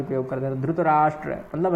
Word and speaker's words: धृतराष्ट्र: पूर्ण उच्चारण करना है धृतराष्ट्र उवाच ट्र है यहां कहीं कहीं धुत भी बोल देते हैं जो दक्षिण भारत में मूलतः धुत का प्रयोग होता है गुजराती इत्यादि लोग भी धुत का ही प्रयोग करते